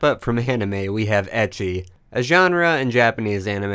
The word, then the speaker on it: ecchi: The term comes from the Japanese pronunciation of the letter H, pronounced ecchi.